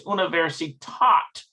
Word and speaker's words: Universität: Actually, it's universitat. I think it's how that's pronounced.